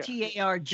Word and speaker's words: Targ: T-A-R-G.